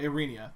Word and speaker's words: Aranea: whole kingdom of Aranea yeah Aranea that that is that is how you pronounce it that's that's not what's over pronounced it I feel like that's right arre Nia when you